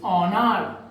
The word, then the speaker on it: honor: So honor, the proper pronunciation is honor. The proper pronunciation is our, not honest.